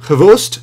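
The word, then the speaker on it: XBOCT: Next up, we have Oleksandr Khvost, yes, that's how you pronounce that, Dashkevich, this gentleman right here.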